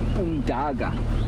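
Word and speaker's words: umdaka: It comes from the Zulu word umdaga, which means mud. U-M-D-A-K-A. The letter K is pronounced G in Zulu, unless it's got an H behind it, but we don't need to go into the linguistics of Southern Africa.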